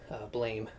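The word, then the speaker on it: Blame!: manga I really wanted, Blame, or Blom as it may be pronounced, at a really great price.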